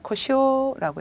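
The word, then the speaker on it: 故障: 고장, 음으로 읽었을 때 고쇼라고 읽어주시고요.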